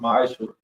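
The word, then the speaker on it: מעשר: Means 10th in Hebrew, and is pronounced ma'ashur.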